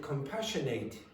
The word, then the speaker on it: compassionate: So if this is weak, it will change pronunciation. The vowel sound will change pronunciation to that that we had yesterday. Compassionate. Compassionate. So it is not strong. It's not strong. It's weak. So it changes pronunciation to that. It becomes quieter and it's said more quickly. So you will not say compassionate, you'll say compassionate.